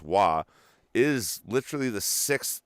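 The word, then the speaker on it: ו: in the Aramaic alphabet, the W, which is pronounced wa, is literally the sixth letter of the alphabet.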